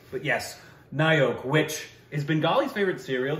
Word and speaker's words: Nayak: that you pronounce that nyak almost what is it it's actually Nyo cuz Bengali yeah and O's the O's the O's have it but yes Nyo which is bengali's favorite